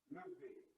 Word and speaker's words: levez: It's not the S. It's lever, lever.